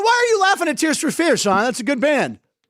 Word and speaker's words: Tears for Fears: Now, why are you laughing at Tears for Fears, Sean? That's a good band. You said it wrong. What did I say? Freeze. Tears for Freeze.